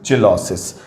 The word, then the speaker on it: Cheilosis: इस अवस्था को कहते हैं चिलोसिस। स्पेलिंग इंग्लिश में है इसका CHEILOSIS, चिलोसिस, एंड इट इज ड्यू to deficiency of vitamin B2।